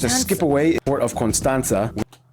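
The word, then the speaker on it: Constanța: skip away Port of constanza they pronounce it constanza the T with the accent on the bottom have I even noticed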